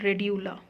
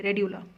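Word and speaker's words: radula: होता है एक स्ट्रक्चर जिसको अपन बोलते हैं रेडला आर ए डी य एल ए ध्यान से देख लेना भैया spelling R ए डी यू आर ए डी यू एल ए रेडला इसको बोला गया है फाइल लाइक रास्पर गन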